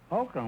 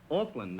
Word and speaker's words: Auckland: Oakland. Well, that's right across the bay from San Francisco, isn't it? No, Groucho. Auckland, A-U-C-K-L-A-N-D.